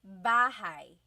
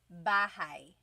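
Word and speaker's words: bahay: Okay, so house in Tagalog is bahigh. Bahai. Try saying that with me. Bahai. Bahai. You might notice that the spelling is a y at the end. So it looks like bahi, but it's pronounced bahigh.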